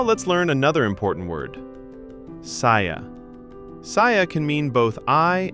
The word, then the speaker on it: saya: Saya. Saya can mean both I and me. Say it with me. Saya. Saya.